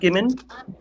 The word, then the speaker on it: Gimman: It's a hard G. Gimman.